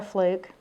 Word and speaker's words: Flook: regulation my name is fluke like the fish only not spelled the same I am a 23